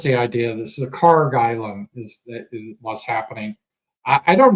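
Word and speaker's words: Kharg: That's, I think they pronounce it Karg Island.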